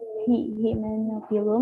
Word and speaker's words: Hymenophyllum: Himen, Y-nya baca I. Hymenophyllum.